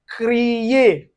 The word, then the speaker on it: créer: For instance, you can see it in word like "créer".